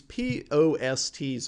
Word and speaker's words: POST: little more information these p o s ts over here and i'm saying it that way for a reason but mostly usually it's pronounced post these are power on